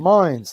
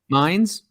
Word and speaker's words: Mines: Mines, like Hines Mines? with an M. Mines.